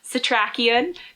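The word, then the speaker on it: Setrakian: He also meets Abraham, and I learned how to say his name, Satrakian, who is a professor, and he also was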